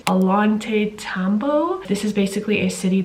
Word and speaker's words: Ollantaytambo: I'm actually in a city called, if I can pronounce it right, Ollantaytambo.